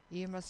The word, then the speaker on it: Iomas: my book Emma Reflections on life and living em must is spelled i o m a s this you're